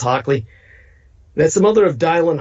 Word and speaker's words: Hockley: post by nicole hotly her surname spelled h-o-c-k-l-e-y like hockey but it's pronounced hockley that's the mother of